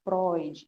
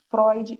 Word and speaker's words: Freud: vamos começar por aqui Freud não é Freud Tá bom vamos trabalhando a pronúncia Freud Sigmund Freud nascido